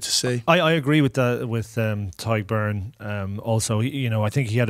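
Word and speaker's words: Tadhg Beirne: Tad Byrne, I think, has been incredible. For me... Tyg Byrne. Come on. Tyg Byrne. How often are you doing this with Shawnee and you haven't got your Irish pronunciations right?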